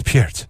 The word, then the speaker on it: Peart: I could just picture the publicist for Rush going, okay, now you understand that Mr. Peart's last name is Peart. It is not Pert.